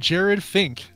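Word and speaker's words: Jerad Finck: A guy named Jared Fink, but it's not spelled like you think it would be spelled. It's Jerad, so flip around the vowels, Finck.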